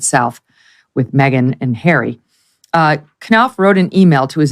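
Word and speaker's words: Knauf: for the Invictus Games, Jason, is it Knopf? Is that how you pronounce his name? Knopf, yeah.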